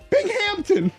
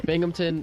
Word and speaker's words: Binghamton: Because when I said it, I said Binghamton. It's Binghamton.